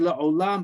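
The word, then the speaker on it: לעולם: We can just hint to the vav, so to speak, with the cholam, the dot on top. So we pronounce it la'olam, but it's spelled like alam, ayin, lamed mem.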